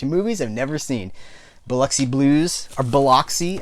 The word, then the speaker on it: Biloxi: Biloxi Blues, or Biloxi. I guess it's technically pronounced Biloxi, but living in the South, we just pronounce it Biloxi.